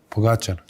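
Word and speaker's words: Pogačar: Pogacher.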